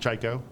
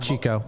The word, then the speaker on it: Chiko: And, one night at the bar, we came up with Chiko, which is pronounced Chiko. Not Chiko. Most people say Chiko. Fuckers. Don't say Chiko.